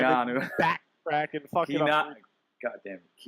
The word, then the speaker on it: Keanu: you said it right the first time. Keanu.